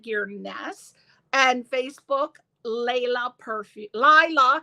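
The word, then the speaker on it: Laila: on Instagram at Gess and Facebook Leila perfu Lila W I got to correct that I always want to say Leila because one of my favorite songs is Lea but but uh it's Lila uh l a i l a perfume p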